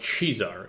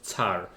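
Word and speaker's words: tsar: so are both wrong it's supposed to be pronounced chear yeah of course definitely okay the Orthodox like the bulgar or Russians call their Emperors tar not a k right well I like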